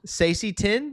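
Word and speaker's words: Saesee Tiin: Sacy Tin, yeah, that's people. Yeah. People have been pronouncing it like that.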